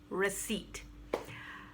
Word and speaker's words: receipt: you purchase something uh receipt and so no stress on the r stress goes on seat and the p is silent receipt uh tired i often